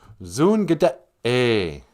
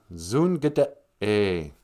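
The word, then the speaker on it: zoongide'e: Our word of the day, Zoongada-a. Zoongada-a. Be brave. Zoongada. E's are A, like in the word Ojibwe.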